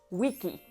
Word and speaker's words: vici: Bueno, en realidad es wiki. La CE y la CI se pronunciaban con el sonido K, ki.